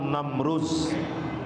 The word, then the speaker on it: নমরুদ: কিন্তু ইব্রাহিম আলাইহিস সালাতু সালাম তার সময়ে রাজ ক্ষমতায় যে ছিল, তার নাম বাংলায় কয় নমরুদ, আসল উচ্চারণ নমরুজ, আসল উচ্চারণ নমরুজ। নমরুজ হলো আসল উচ্চারণ, বাংলায় এসে দ হয়ে গেছে বুরকাজ্য, নমরুদ।